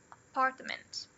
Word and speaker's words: apartment: Aqui nas de 3, a gente vai ter o apartment. O part é a sílaba mais forte. E nas outras, ó, a gente tem o schwa aqui na primeira e o schwa na terceira. Fica apartment. Aqui, banana.